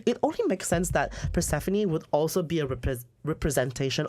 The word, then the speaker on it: Persephone: Mafia Underworld the goddess I don't know how to pronounce I think it's Persephone yeah that's it I remember now Stephanie I was pronouncing it weird sorry guys daughter and